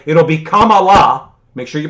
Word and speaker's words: Kamala: racist if you if you mispronounce kamala so remember it's kama la um and she's gonna